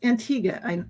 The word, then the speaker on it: Antigua: And it's Antigua. I always pronounce it Yes, wrong.